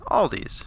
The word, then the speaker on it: Aldi: ACC pronounced ID or in America Aldi because of our innate need to assign possession as I'm sure you